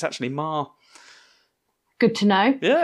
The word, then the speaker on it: Meagher: I always assumed that his name was Meager, but it's Marr. It's pronounced Marr. Like Johnny Marr.